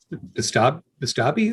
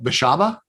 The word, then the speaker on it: Beshaba: I find it interesting that Bestabi, is it? How do you say it? Who what? Oh, Beshaba?